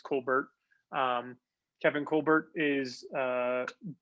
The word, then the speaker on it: Colbert: been rumors that uh kevin colbert colbert not sure how he pronounces it i think it's colbert um kevin colbert is